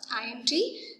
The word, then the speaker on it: Allende: Okay, we have to pronounce as a Allende.